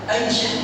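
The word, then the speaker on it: أيش: أي شيء؟ هكذا تنطق. إذا جاءت اللغة جاءت في كتب العلماء تنطق بالفتح وكسر الشين مع التنوين، ومعناها أي شيء.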